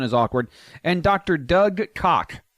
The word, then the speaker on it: Koch: Doug Koch, spelled K-O-C-H, but pronounced how I said it.